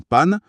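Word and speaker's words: pàn: l'auto est en panne, le dernier mot pan s'écrit P-A-N, avec l'accent grave sur le A. Le cerveau voit l'accent, il ne fusionne pas. Il lit A, puis il lit N. Ça donne panne.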